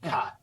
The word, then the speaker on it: qat: No, cot. Oh, okay. QAT, I think is how they say it.